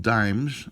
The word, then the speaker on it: disme: Well, they were called dimes, but they were spelt just a little differently. They were spelt D-I-S-M-E, but they were still pronounced dime. They had the S silent.